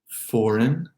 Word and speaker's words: foreign: Don't even think about the G or even the E in the word foreign, foreign. Those first 3 words, by the way, all have silent letters in the unstressed syllable.